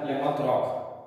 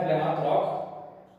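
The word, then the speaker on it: Plymouth Rock: पहला प्लाइमाउथ रॉक, इसका pronunciation भी प्लाइमाउथ रॉक नहीं होता है, इसको प्लाई मत पढ़ना, इसको माउथ मत पढ़ना, इसको रॉक मत पढ़ना, प्लाइमाउथ, PLIMOTH।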